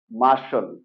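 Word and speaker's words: Martian: আসলে এই ওয়ার্ডটির উচ্চারণ মার্টিয়ান না এটা হবে মার্শন মার্শন ওকে এখানে আর সাইলেন্ট থাকবে ওকে আর টি আই এন এটা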